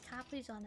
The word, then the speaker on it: Capri-Sonne: The German way we pronounce it is Capri-Sonne, by the way.